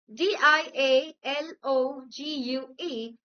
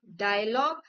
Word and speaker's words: dialogue: D I A L O G U E is not dialogue but it is dialogue.